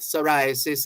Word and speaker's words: psoriasis: summer sun safety month psoriasis is spelled p s o r i a s i s don't you just love those words where where letters are not uh are not certain letters are not pronounced so this is psoriasis